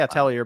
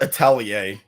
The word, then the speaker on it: Atelier: How do you pronounce this? I always say Atelier, but it's something They else. call it Atelier.